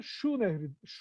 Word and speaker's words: Çu: Çu Nehri, bugün Çu. Kazak ve Kırgızlar şeyleri Ç olarak telaffuz ederler. Bazen de Ç'leri şey olarak telaffuz ederler. Dolayısıyla Çu Nehri aslında Şu Nehridir.